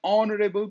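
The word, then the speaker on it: honourable: Our person is एन ऑनरेबल person, ऑ यानी एच जो है साइलेंट है, ऑनरेबल पर्सन।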